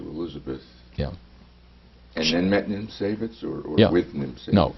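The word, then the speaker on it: Niemcewicz: Nimsewicz. Nimsewicz.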